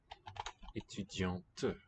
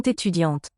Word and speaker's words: étudiante: And we can hear the T. Elles sont étudiantes. The other word was spelled with T, the male form. Spelled with T, but the T was silent. This T is audible because it's got a vowel following it.